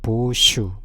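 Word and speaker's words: 芒種: 자, 망종은 보슈입니다. 보슈.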